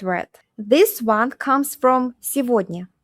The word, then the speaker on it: сегодня: This one comes from сегодня. Сегодня. It means today. Сегодня, this day, today. And instead of saying сегодня, we say сегодня.